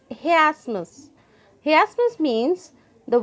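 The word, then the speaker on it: chiasmus: pronounce with me students it's not she Asmus it is he Asmus he asked miss means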